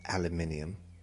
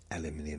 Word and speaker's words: aluminium: Purple uh aluminum or aluminum. Aluminium is the correct way to say that.